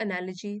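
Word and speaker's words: analogy: पर भी देख लीजिए जैसे एलो जीी वाय इसको हम लजी ऐसे करके प्रोनाउंस करते हैं जैसे कि बायोलॉजी सो यहां पर है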